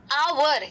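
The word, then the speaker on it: hour: है कौन से इंसान अवर हा साइलेंट है साउंड किसका है तो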